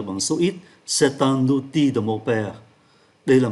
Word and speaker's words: outil: Và chúng ta để ý không phát âm ký tự L là c'est un outil de mon père.